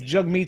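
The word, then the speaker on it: Jagmeet: jug meat singing and his pronunciation of his name is jug meat and i'm not i'm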